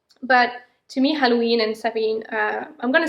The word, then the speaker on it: Samhain: Okay, anyway, so to me, Halloween and Samhain, because actually people would pronounce Samhain, but actually it's Samhain. It's an Irish word, and I lived for 4 years in Ireland, so I've learned a few stuff.